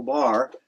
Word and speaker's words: barre: And the full bar meaning simply what a bar is uh I mean it's spelled B A R R E is that instead of